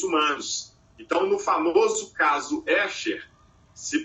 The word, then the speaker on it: Escher: Então, no famoso caso Escher, se pronuncia ESCHER, caso Escher.